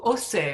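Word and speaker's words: Auxerre: the altar moving to ose so the we don't pronounce the x in it's in burgundy the x is not pronounced x but and here's a view from osa uh in the middle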